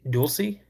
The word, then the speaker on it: Dulce: in how do you say is it do Dulce New Mexico? You don't have any questions. That's cool. I never felt like I'm arguing. Wayne, what's going on buddy? So that's how you say it. Dulie, cool.